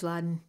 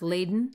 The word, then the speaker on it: laden: to describe her, I came up with courage Aladdin. She's a courage Aladdin female force of inspiration. That's what I think. Oh, update. Dale has shamed me and informed me that Aladdin is actually pronounced Laden.